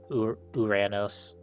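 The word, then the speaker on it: Uranus: Uranos. Yeah. People just like to call it the other thing because the memes, I suppose.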